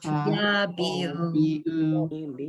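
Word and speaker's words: יביעו: Tuvcha Yabihu Yabi'u, the ayin is silent.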